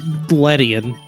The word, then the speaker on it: Ledian: It's Ledian.